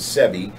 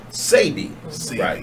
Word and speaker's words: Sebi: it's not this ad STB I sometimes accidentally pronounce it semi but if you say save me or semi